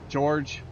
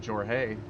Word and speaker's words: Jorge: I was like, they've called him George Horge and but they've never called him Jorge.